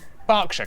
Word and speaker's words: Berkshire: ER is pronounced R. Berkshire, Clerkenwell, Hertfordshire.